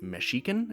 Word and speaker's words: Mexica: subjects of the Aztec also they call themselves Mexican pronounced meshiken as far as I can tell but for the purposes